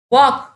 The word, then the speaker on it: walk: walk சொல்லி பாருங்க, walk l வந்து சைலண்டா இருக்கும் பாருங்க சரிங்களா. சோ இங்க l அப்படிங்கறது சைலண்ட் லெட்டர், walk அப்படினா சொல்வீங்க.